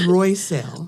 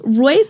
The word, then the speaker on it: Royell: did I I try it's royell royell like Rolls-Royce that expensive car I love it you